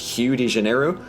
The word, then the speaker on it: Rio de Janeiro: make very little sense, apparently Rio de Janeiro is supposed to be pronounced Hugh de Janeiro. And to that I ask one question, and that is, what did the letter R ever do to you guys?